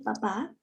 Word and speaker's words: papà: Así como has pronunciado la primera, yo la escribiría con PA, PPA sin acento. Il papa. A ver, mejoremos ahí la pronunciación. ¿Cómo sería la correcta pronunciación de la primera? Il papà. Il papà. Exacto.